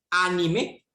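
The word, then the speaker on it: animae: Y la segunda palabra, anime, el diptongo AE se pronuncia como E. Fortia anime.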